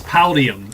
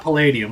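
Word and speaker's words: Paladius: yeah it's one it's palum actually it's it's not Palladium I'm sorry that that is me mispronouncing it's palum yeah like if I touch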